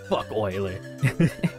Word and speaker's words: Euler: boiler rolling in his grave oiler uh yeah it looks like his name is euler but it's pronounced euler but anyways the the thing with